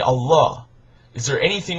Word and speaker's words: Allah: aramaic and arabic and in arabic it's pronounced allah that it means god